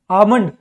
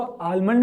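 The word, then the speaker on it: almond: हम क्या बोलते हैं आमंड यहां पे एल जो है वो क्या है साइलेंट आता है कई कई जगहो प ठीक है कई लोग उसको आलमंड भी बोलते हैं मेन इसको क्या बोलते हैं हम आमंड आमंड इसका सही प्रोनंसिएशन है मूंगफली या फिर मूंगफली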